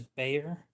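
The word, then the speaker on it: BXAR: B X A R is Bayer. That is how you pronounce it.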